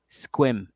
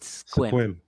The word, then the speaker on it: Sequim: I think they call it Squim. Yeah. Squim.